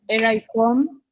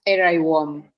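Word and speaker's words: Erewhon: Estuve buscando y se pronuncia en inglés británico, el nombre es Eraiwom y en inglés americano es Eraiwom. De las dos maneras está bien.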